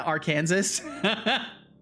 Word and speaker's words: Arkansas: Flabbergasted that the way you said it first is not the right pronunciation. Yeah, Arkansas.